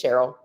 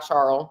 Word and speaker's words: Cheryl: It's Cheryl, not Charles, not Cheryl, not Sherilyn, although my middle name is Lynn.